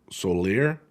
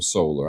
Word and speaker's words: Soler: Some of the broadcasters call him Soler, some of them call him Solar.